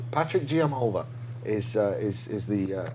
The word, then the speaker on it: Giammalva: It's spelled GM GIAMM. Malva. GIAMMALVA. Patrick G. Patrick Giamalva. Giamalva. Patrick Giamalva is the Say challenger.